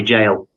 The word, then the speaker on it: gaol: He's got a very cool place in Derbyshire called Derby Jail. Awesome place. Very, very haunted. Yeah, jails are pretty cool. Yeah. But it's spelt Gaol. It's Old English.